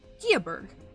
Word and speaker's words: Skuberg: Its name was a bit peculiar, but he didn't realize it was actually pronounced Skiaberg until tonight. Skiaberg? Skiaberg or Skiaberg? Huh? I think it's Skiaberg. Skiaberg. Skiaberg. Yeah. Like I said, it's old English, so it's weird.